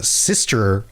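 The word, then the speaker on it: Systres: is part of the sister isle. It's spelled weird. It sounds like sister, like your sibling, but the spelling is different. The sister isles.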